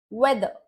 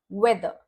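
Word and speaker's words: weather: भी are silent रहेगा वेदर ये अंत में आर आने वाला शब्द है और इसके बाद कोई भी साउंड नहीं है और इसीलिए आर का उच्चारण नहीं होता वेदर फादर उसी रूल के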